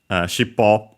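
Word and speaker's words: しっぽ: with series, because yeah, shippo, accent on the last more, is technically a compound.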